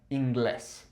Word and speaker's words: inglés: However, it sounds a little odd, so we put a new accent on there, and now we have inglés, okay?